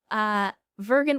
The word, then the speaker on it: Vergant: Vergant with a hard G was hired last time